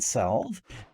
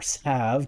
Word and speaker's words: salve: That will give me a healing salve, or salve, depending on how you want to pronounce it.